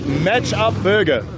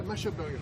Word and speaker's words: Mash Up Burger: Yeah, it's Match Up Burger. That one, thank you. Is that how you pronounce it? Yeah, Mash Up Burger.